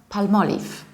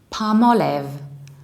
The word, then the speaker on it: Palmolive: is this one and it's not palma leaf its Palmolive Palmolive